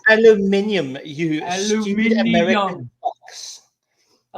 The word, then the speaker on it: aluminium: It's aluminium. You stupid American box. I love how you put it out phonetically.